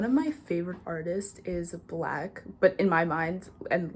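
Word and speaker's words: 6lack: in all the time I call him six lakh because like it's spelled that way but like there's just nothing he can do to make me say black like in my mind it's six lag but anyways um like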